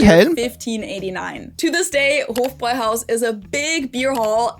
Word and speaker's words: Hofbräuhaus: long O, and then Bräu is pronounced like this, and you don't need to... I was very off on this one. Hofbräuhaus. Be able to do the German R, even if you just say Bräu, you're closer to the original. And then Haus is house.